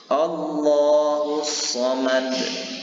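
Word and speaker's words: الله الصمد: Maka cara membaca lafzul zalalah ini harus dibaca dengan tafkhim atau tebal. Bagaimana cara membacanya? Mari sama-sama kita praktikkan. Allahus Samad. Allahus Samad.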